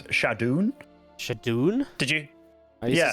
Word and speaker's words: ShaDoWn: know a lot of today has been about pronunciation but I remember I always called shadown like uh shadown but then apparently it's shadon shadon did you I used to say shadon